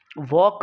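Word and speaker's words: walk: वॉक, वॉक में L silent है।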